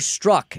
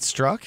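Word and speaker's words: Strzok: what did you learn we have been pronouncing his name wrong all this time it's not struck it's struck really it's true double oh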